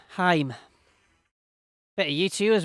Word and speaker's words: Haim: way little bit of Haim coming up hi why do I keep saying it wrong I know better as well Haim better you to you